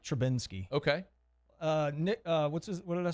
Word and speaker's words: Trubisky: Let's draft this guy in the first round, Mitch Trubisky. Trubisky. And we're going to bench Trubisky. No, Trubisky. I like the end, though. Trubisky. I like Trubinsky.